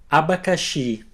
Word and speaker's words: abacaxi: The letter X can be pronounced as an S and an H together, like in the English word shop. Let's see some examples. You can repeat after me. Abacaxi, caixa, xícara, puxar.